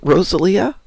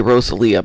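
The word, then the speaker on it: Rosalía: Well, in America we'd say Rosalia, but I don't know how you say it anyplace else. Spanish, so I'm thinking she probably has a Spanish pronunciation of it, which would have been Rosalia.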